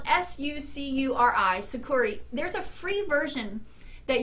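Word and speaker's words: Sucuri: in the description box below after this video it's spelled s-u-c-u-r-i sakuri there's a free version that you can use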